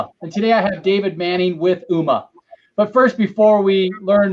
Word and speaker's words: Ooma: And yeah, you are pronouncing it correctly. It is Ooma.